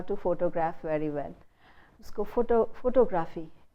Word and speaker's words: photography: उसको photography. Instead of photography, the stress shifts. The suffix is e. So the syllable before the suffix will take the stress, which is photography.